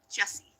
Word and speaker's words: Jessie: It's pronounced Jesse.